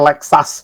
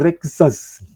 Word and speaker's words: Lexus: juga ya dan dan fun fact orang Jepang bilangnya lexas bukan Lexus gua enggak tahu itu gimana maksudnya jadi pelafalan Jepang itu Mereka bilangnya rexus ya karena orang Jepang enggak bisa ngomong l tapi bukan Lexus engak